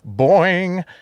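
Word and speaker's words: Boin-n-g: such as Nature's Playmates Boeing uh blood you have to say it that way because it's spelled b-o-i-n uh hyphen and hyphen G it wasn't just commentary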